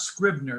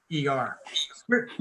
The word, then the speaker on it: Scrivener: And it's not Scribner, it's Scrivener. Scrivener.